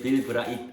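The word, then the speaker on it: Bill Bright: 그냥 빌 브라이트 하시면 돼요. T는 그렇게 발음이 세지 않아요.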